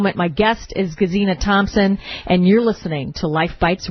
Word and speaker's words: Thomson: It's Gesine, and her last name is Thomson without a P.